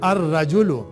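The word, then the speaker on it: الرجل: र के ऊपर लाम साइलेंट हो जा रहा है। अर रजुल इमरातुन अ वुमन अल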